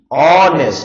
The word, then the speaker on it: honest: जैसे आपने कहा HONEST, ऑनेस्ट, ये है ओ, ये है ओ, तो यहां पे क्या आएगा, एन ऑनेस्ट।